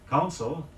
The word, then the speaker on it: council: on his financial affairs by the way si o un CIL meaning assembly is pronounced the same way as council meaning advice say after me the tongue